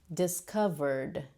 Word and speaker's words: discovered: So this word you should pronounce with the d, with the D sound, because we have the R sound, which is voiced right after the ED. That's the R sound. So we say discovered, discovered, discovered.